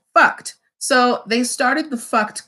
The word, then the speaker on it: Fuct: The name of the clothing line is spelled Fuct. Now, for those of you with sensitive ears, please forgive me, pronounced fucked.